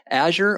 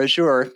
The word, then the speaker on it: Azure: And, on the first of all, Azure or Azure, you can go either way on the pronunciation.